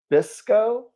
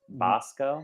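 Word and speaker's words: Basco: Um, then um, Ella J. Bisco. I am so sorry if I I'm going to mispronounced assume that. that's Bosco. Bosco, she is my Jubilee.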